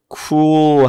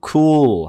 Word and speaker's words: cool: 이건 cool 할 때 요거는 혀를 아래로 내리세요. 이걸 갖다가 dark L라고 하는데 모음 다음에 A, E, I, O, U와 같은 모음 다음에 L 소리가 오게 되면은 이거는 dark L이라고 그래요. dark L 소리.